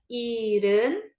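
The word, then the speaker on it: 일흔: yesun yesun 70 ada Iren Iren jadi walaupun di sini ada huruf H tapi h-nya enggak kita baca ya Iren gitu Iren 80 ada yoden yoden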